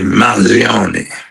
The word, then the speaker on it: Mangione: And you're seeing here all of the security around Luigi Manion as he make so the Luigi how do you pronounce his name? Luigi the the Luigi Man Gion case. Luigi Manion.